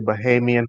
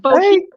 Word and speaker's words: Bahamian: And second of all, you actually pronounced Bahamian right. So Oh, way to go. Most people say like Bohemian, hey.